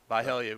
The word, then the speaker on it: Byhalia: Once again, the winner of this ball game wins Region 4-4A and will play either South Pontotoc or Byhalia. Byhalia. Wait, Right? you pronounced it correctly.